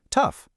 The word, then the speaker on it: tough: all of a sudden it's pronounced tough. Wait, where did that O sound go? Now it's an UF sound.